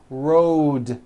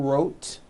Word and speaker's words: road: Road also has a voiced D ending. Road. It's not wrote, unvoiced, it's road.